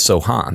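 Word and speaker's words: Sochan: he was mentioned uh Jeremy have we decided if it's Sohan or Sohan because he pronounces it both ways as well I had heard um when we were in Minnesota that they'll land for under the podcast yes there is a on the Spurs um notes okay notes that often have pronunciation guides for like opposing announcers it says Sohan so when you go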